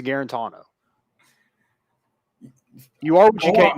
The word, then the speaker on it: Guarantano: you say it i'm not saying it like that guarantano try to do the same thing i'm not no his name is guarantono you are what you